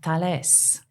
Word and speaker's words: Thales: Because it's spelled Thales. French. So, Thales.